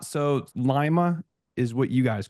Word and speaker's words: Lima: It's actually pronounced Lima. Lima. What did I say? Lima. Lima. Lima. Well, the one in South America is Lima, right? But It is. this Yeah. one's more like lima bean.